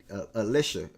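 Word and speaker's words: Allisha: Well, Kelsey ain't gonna bring you, not Chelsea, Penny, Alicia.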